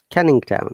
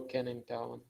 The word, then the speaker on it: Canning Town: tavern canyon town yeah g is not sounded canning town yeah oh can in town so it's a place